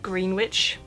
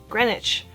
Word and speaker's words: Greenwich: it looks pretty easy it looks like it should just be green witch would make sense right but it's not this is pronounced grenwich so it's Greenwich meantime next up I